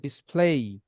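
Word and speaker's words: display: যাবে তাহলে আজকে থেকে যখনই কোন ওয়ার্ডের শেষে এ ওয়াই দেখবেন তখন এটা টান দিয়ে বলতে হবে লাস্টে এই সাউন্ডটা আসবে এই সাচারডেই সানডে মানডে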